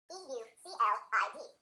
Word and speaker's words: Euclid: How do you pronounce E-U-C-L-I-D? Pronunciation-wise, we're going to say Euclid. Euclid. This word is based on the name of the great Greek mathematician, Euclid of Alexandria.